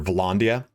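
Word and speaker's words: Vlandia: Like if you were, let's just say you're Volandia, because that's the way it's pronounced, all the way around to get to this, you'd have to just follow the coastline, right?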